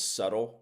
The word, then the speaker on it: subtle: So then we went back in time and we have these small subtle notice subtle silent B these small subtle earthquakes where everybody's